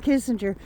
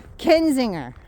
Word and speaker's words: Kinzinger: I said it right. I didn't call him Kissinger. Kinzinger.